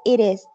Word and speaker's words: it is: Pero se pronuncia como una sola palabra y se dice it is. Es como iris en español, como el nombre de iris.